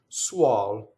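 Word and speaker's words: suol: Suɔl. So usually before, see this U and the O, usually when you have an U before an O, the vowel will open.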